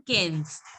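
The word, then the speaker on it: quinze: The same thing in cans. Same thing here in cans. IN is there. So you will pronounce the sound of IN will be So it will be cans.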